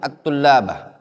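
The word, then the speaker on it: الطلاب: Afadal muallimu at-tullabah. Mufradnya apa? At-talibu. Jamaknya apa? At-tullab. Kenapa disebut jamak taksir? Karena ada perubahan. Ya, hurufnya juga at-talib, bacanya toknya panjang. At-tullab, lamnya jadi yang panjang ya.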